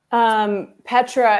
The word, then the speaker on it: Petra: Daphne finds herself unceremoniously tossed out and having to move in with Petra. Is it Petra? Is that how you say her name? Petra is who, Peter's living.